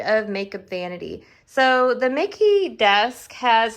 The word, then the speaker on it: MICKE: mickey desk i blew i believe it's pronounced mickey it's m-i-c-k-e desk at ikea and this is the mickey drawers so together i